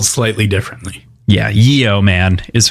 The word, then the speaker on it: yeoman: spelled slightly differently yeah Yeo man is how you would spell it but it is pronounced yeoman in the same way yo man yeah very very interesting